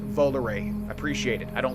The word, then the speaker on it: Volare: And shout out to all the people that told me it's pronounced Volare.